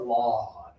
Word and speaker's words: lawn: It rhymes with gone, okay?